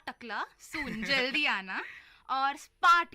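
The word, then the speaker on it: spät: है सून, नॉट टकला, सून जल्दी आना, और स्पार्ट का मतलब है लेट। स्पार्ट का मतलब है लेट।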